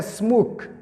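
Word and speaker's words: smoke: اوس لکه سموک، سموک پسې اخر ای راغلی ده، دا ای نه تلفظ کېږي. دا د خبره دی په خاص دا کې د هرې کلمې په پای کې که چیرې ای راغلی وه ای د هرې کلمې د هر لفظ په پای کې که ای راغلی وه دغه ای تلفظ نه کیږي. یعنی دا به دی نه وایي چې سموکي به یې نه وایي، دا ای نه ویل کیږي.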